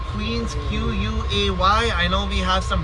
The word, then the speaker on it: Queens Quay: locals don't say Queens Quay, we say Queens Quay. Usually people from Britain, Australia, South Africa get that right because it's more of an English word.